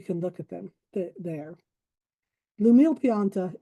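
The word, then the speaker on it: L'Umile Pianta: Lumile Pianta is spelled L apostrophe Umile. That's Lumile and Pianta, Pianta. It is Italian for the humble plant.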